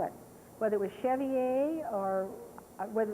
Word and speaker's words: chevalier: across the fact that that is the way c-h-e-v-a-l-i-e-r is pronounced the chevy a so there may be